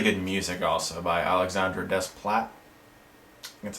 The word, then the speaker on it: Desplat: terrific Direction really good music also by Alexander desplat that's how you say it I personally think